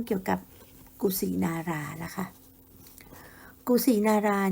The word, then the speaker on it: กุสินารา: กับ กุสินารา ล่ะ ค่ะ กุสินารา เนี่ย นะ คะ เป็น ภาษา บาลี แต่ ชาว อินเดีย จะ ออก เสียง เป็น กุชี นาก้า นะ คะ เป็น สถาน ที่